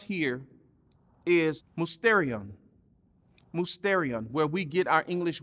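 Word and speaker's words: μυστήριον: See, the Greek word pronounced here is musterion, where we get our English word mystery from.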